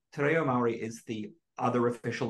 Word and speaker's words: te reo: Te reo Maori. It's Tereo. Tereo. Roll on the R.